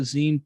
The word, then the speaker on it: zine: The one thing that we can clearly agree upon in regards to zines and what they are and how they're represented is the proper pronunciation is zine.